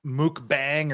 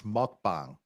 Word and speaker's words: mukbang: tube okay now everybody this is not pronounced mooc bang or mukbang it's mukbang and Court shows yeah that's